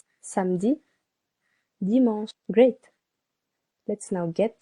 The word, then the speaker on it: samedi: Samedi, samedi, 2 syllables. The first one is a little longer.